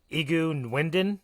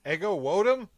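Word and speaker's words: Ego Nwodim: And that is, I am going to butcher this, Ego Nwendon. Ego Wodum?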